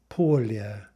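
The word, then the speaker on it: поля: How is that going to be pronounced? Polya, right? So you might think by analogy to the Russian pole, like the North Pole, that yeah is going to be silent in Russian, but again, that will never happen.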